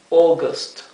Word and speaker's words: August: May june July august la la a y la u esta conjunción de vocales casi siempre en inglés se pronuncia o Sí así que cuando vean estas dos vocales juntas sepan que se debe pronunciar o august august september september october